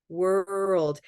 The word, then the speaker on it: world: Earl takes time and it starts to feel almost like more than one syllable world in fact if it doesn't feel like more than one syllable I want you to make it one and a half syllables because that will help